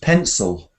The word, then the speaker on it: pencil: word well nearly everybody because they were saying seal at the end Seal Seal or something pencil pcil no yeah that's a common mispronunciation of this word was pencil penil and it's just pencil pencil pencil yes so it's one of